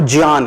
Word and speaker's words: ज्ञान: ज्ञान लिखा हुआ है, ये जान नहीं लिखा हुआ है. ये ज्ञान जिसको उसका जो सही उच्चारण है वो ज्ञान है, राइट?